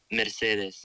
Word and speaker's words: Mercedes: of getting up there into this time called Mercedes look Lucas how you say it Mercedes thank you uh where Lucas's family owned this